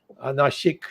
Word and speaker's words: Nashik: Nashik is the correct pronunciation.